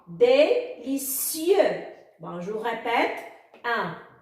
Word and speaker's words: délicieux: Délicieux. Le X muet à la fin ne se prononce pas. Délicieux.